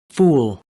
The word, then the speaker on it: fool: fool, fool, Muy bien, entonces de esa forma podemos hacer esa diferencia, ¿no?